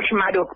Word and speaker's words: Chmaruk: Y yo lo pronuncio Shmaruk, pero mira, somos 10 primos con ese apellido y yo creo que todos igual lo pronunciamos de alguna manera medio diferente.